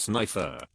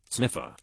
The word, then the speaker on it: Snifer: for the last time my last name is pronounced snifer not not not sniffer you know what just